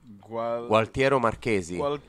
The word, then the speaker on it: Gualtiero Marchesi: Gualtiero Marchesi. Wow, bravissimo. Bravo. Bella pronuncia.